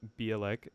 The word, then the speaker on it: Bialek: if anybody out there is from Poland, then maybe you can tell me how to actually pronounce my name. Right. Yeah, so her Instagram handle is Bielek.